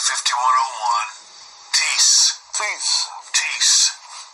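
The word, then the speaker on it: τίς: Tease. Tease. Tease. Looks like test, T-I-S, but it's tease is the way they pronounce it.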